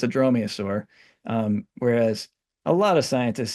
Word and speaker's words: dromaeosaur: Dromaeosaur, yes.